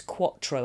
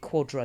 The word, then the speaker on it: Quattro: It's Quattro, as in 4. They pronounce it Quadro, because Americans pronounce T's like D's.